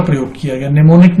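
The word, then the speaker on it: mnemonic: निमोनिक में मैं आपको बता दूं कि M साइलेंट होता है।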